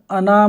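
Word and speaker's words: أنا: लफ्ज़ अना में नून के बाद का अलिफ कहीं पढ़ा नहीं जाएगा।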